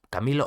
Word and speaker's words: Camilo: Hasta que apareció Camilo, el cual, Camilo o Camilu, yo le voy a llamar Camilo, me gusta más Camilo como el cantante, pero creo que se pronuncia Camilu en verdad.